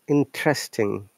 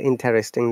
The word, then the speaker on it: interesting: Next one is interesting. This is another commonly mispronounced word. People say interesting. No, it's interesting.